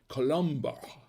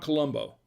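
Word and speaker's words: Colombard: percent toure and 15 columbar so that is uh and actually it's pronounced columbar not columbo okay not like lieutenant colombo colombo and actually if i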